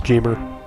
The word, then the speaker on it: Geemer: in the original, but the actual name is Jeemer. Huh. Learn something new every day. Of course, I always pronounce it Geemer, but...